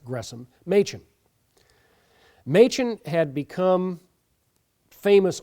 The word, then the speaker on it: Gresham: Gresham, or Gresham, as it looks like Gresham, but is pronounced Gresham, Machen.